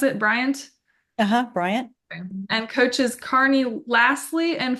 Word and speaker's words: Bryant: Coach Paul Bear Bryant is that how you pronounce it Bryant uhuh Bryant and coaches Carney lassley and Frank Mosley she's